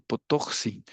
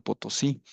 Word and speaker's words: Potosí: Entonces a ese cerro le pusieron Potoxi, que quiere decir el cerro que grita o el cerro que habla. Ujú. Entonces los españoles llegan y no saben pronunciarlo, entonces le llaman Potosí.